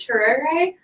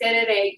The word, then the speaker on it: tereré: okay, please forgive me, I learned how to pronounce this and I don't remember it, Turere. It needs yerba mate. Can I take it to the United States with me? So this is from Paraguay. So the tereré, you can bring it with you.